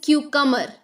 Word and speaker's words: cucumber: Yes, this is cucumber, not cucumber. B is silent.